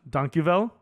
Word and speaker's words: dankjewel: And then in Dutch, dankjewel. But it's spelled like dank jewel.